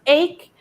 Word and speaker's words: ache: Hay un patrón que se repite, recuerden, ese ache, que se escribe H, but it's pronounced ache.